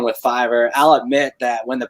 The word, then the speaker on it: Fiverr: It's pronounced Fiverr because it's technically like $5 on it. So Fiverr. But Fiverr is a company